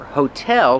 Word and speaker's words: hotel: Remember, hotel put the stress on the second syllable. Hotel. Not hotel, but hotel.